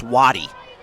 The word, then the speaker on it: Waddy: All I wanted to tell you was Almonte just said, by the way, it's Waddy. Just so you know how to pronounce it for the future.